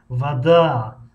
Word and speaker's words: вода: мисли калимаи вада, вада ударение дар ҳиҷои дуюм аст.